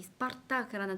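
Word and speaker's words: Спартак: 이 스파르타크라는 단어가요. 들리시나요? 스파르타크. 이 를 연습하기 굉장히 좋은 단어예요. 추천합니다. 여러분 이 단어로 이 혀 떨림을 한번 공부를 해보세요. 굉장히 힘을 주어서 발음을 하시면 돼요.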